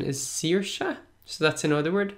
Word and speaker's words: Saoirse: I know the translation but I think the pronunciation is Saoirse so that's in other word Saoirse and it